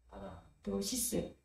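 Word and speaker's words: παράδοσις: 파라도시스라는 것은 파는 짧게 파라는 강세가 이염절에 나옵니다. 헬라는 보통 둘절에 강세가 있습니다. 파라 파라도 부드럽게 파라도 부드럽게 시스는 짧게 시스 한번 따라해 보겠습니다. 파라 파라 도시스 도시스 파라도시스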